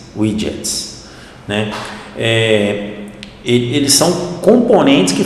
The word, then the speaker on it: widgets: Os widgets são widgets, desculpa, a pronúncia certa é widgets, né?